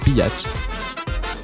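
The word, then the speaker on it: Bihać: découverte du nom de Bach et oui oui visiblement la prononciation c'est bel et bien bat cette ville se situant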